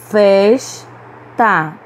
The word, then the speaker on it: festa: Festa. Churrascaria. Churrascaria. Em todas essas palavras, nós pronunciamos com mais força a penúltima sílaba, então elas são paroxítonas.